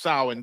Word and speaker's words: Samhain: Pronounced Samhain. I'm pronouncing wrong. Samhain is actually pronounced Samhain.